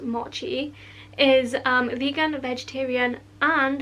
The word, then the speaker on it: mochi: you know guys i forgot to mention the moki which is actually pronounced mochi is um vegan vegetarian and halal friendly and